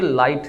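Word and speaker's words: light: है इस तरह से ये लाइट है देखें जी एच को नहीं पढ़ा क्योंकि हमारे पास पहले वाउल आ रहा है वेट में हमने जीएच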